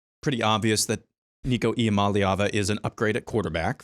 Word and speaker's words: Iamaleava: quarterback, with Nico there, and I still can't pronounce the last name. Iamaleava, is that how? Iamaleava, thank you.